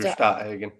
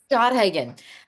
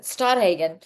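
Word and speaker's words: Stadthagen: mentioned this week when we had um leader Stoagen. Stoodhagen. I'm always terrified to say his last name because I'm going to mispronounce it. Stoodhagen.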